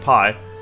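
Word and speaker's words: Piye: That's pronounced Pi.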